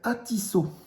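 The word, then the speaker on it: atisô: Et là-bas, ils appellent ça ils prononcent pas le R, donc ça s'appelle atisso.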